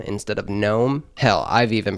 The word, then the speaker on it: GNOME: Now formally, GNOME was a part of the GNU project, which was, or is, I think it's still a thing.